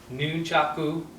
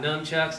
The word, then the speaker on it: nunchaku: that's new Chuck booth handling nunchaku not nunchucks not Chuck's not nunchucks nunchaku very important you say he's trained traditional Kabuto and traditional karate you got to know the names and say it properly if anybody has any